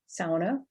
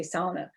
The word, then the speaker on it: sauna: the dialect is dying the local pronunciation of sauna is another example of language contact between english and finnish no doubt swedish norwegian german which also share this pronunciation this pronunciation in the u.p sauna for sauna signals local identity and this linguistic identity marker is called a shibboleth shibboleths are pronunciations that indicate insider and outsider identities insiders say sauna outsiders typically say sauna now that doesn't mean